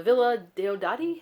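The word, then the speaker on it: Villa Diodati: rumors about his scandalous compatriots competrious at the villa de odari is how you pronounce it byron's villa just outside the city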